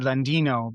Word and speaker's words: Landino: thing to do mhm so it's Landino how how do you pronounce your last name you you would you would a little little like I said Landino but it sound like you had a little